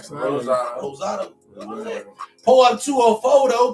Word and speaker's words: Rosado: Rosado.